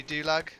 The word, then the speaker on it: Dulag: Rhyme with Gulag. Davy Dulag.